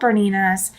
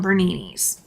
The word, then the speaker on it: Bernina: And you would be so surprised at how many people would come in to my store when I sold Berninas and call them Berninis.